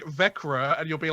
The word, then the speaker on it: Växjö: So yeah, because the pronunciation that we've always had for that is Växjö, Yeah, but it's Växjö.